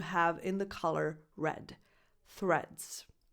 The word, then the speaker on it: Threads: Number 4, threads. You start with a voiceless th, as in the word think, and then you say reds.